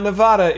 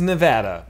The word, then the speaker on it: Nevada: don't think so dude it's not Nevada it is Nevada I know this for